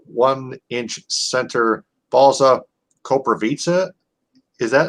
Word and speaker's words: Koprivica: it so it's like it's like you're saying pizza at the end of it but you're saying it with the v so corpora pizza is the correct pronunciation